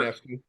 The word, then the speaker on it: Ionescu: I'm not gonna pronounce it. Ionescu? Sure. Ionescu.